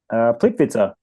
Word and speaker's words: Plitvice: Plitvice. Plitvice. Plitvice. Like pizza.